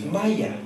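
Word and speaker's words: مية: say ma oh man only in Egypt is it pronounced Maya and it means water so I asked H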